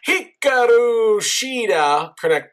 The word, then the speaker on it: Hikaru Shida: Besides Hikaru Shida, correct pronunciation there.